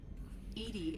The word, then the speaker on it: EDI: Why are you named Edy? Edy is the phonetic pronunciation of EDI. That is an acronym for enhanced defense intelligence.